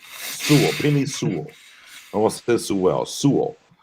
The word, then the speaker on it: Sewell: Yeah, just Sewell, like full, but with an S. Sewell, Penei Sewell.